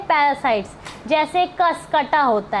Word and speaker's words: Cuscuta: तो एक कसकटा का नाम याद रखिएगा, कसकटा, ये है स्पेलिंग CUSCUTA, कसकटा।